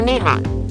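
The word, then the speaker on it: 日本: japanese name nihon in japanese the word is pronounced nippin or nihon the japanese call themselves nihanjin and their language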